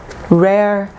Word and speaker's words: rarely: We have usually, often, sometimes, and rarely. Rarely. Remember, we do not pronounce the E.